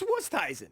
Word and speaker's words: Oosthuizen: when I tell him he's pronouncing it incorrectly. Right. Everyone. Wusthuizen. It's Wusteisen.